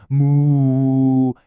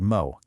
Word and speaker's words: moe: It's a really short sound, kind of like moo, but you cut it off quick. It's not a long moo. It's just mo.